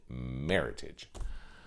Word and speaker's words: Meritage: and they called it meritage so that's why you can't pronounce it the meritage because well for one thing you're making it sound french and that's exactly the